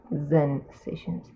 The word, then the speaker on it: Zensations: strokes, Zebra Zensations, yeah, it's like Zen, like Zen Buddhism, plus sensations, so it's Zensations. Okay, just so you know, I'm not like weirdly pronouncing sensations or something. No, it's Z with a Z with a Z.